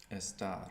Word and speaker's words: estar: Estar.